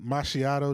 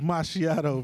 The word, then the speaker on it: Macchiato: with uh i remember machiatto did it i think uh that's his name machiatto macchiato it's my shadow bro it's named after a coffee but you and you and vic have always said it wrong but it's my